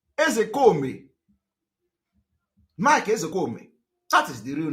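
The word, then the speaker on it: Ozekhome: I'm coming from oh when I want to pronounce I pronounce it the way Igbo people are pronouncing it I'm a typical Igbo man the real name of Mike ezekome is Mike ezekomi Mike that is the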